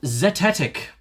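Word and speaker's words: zetetic: Um, and zetic was the other one.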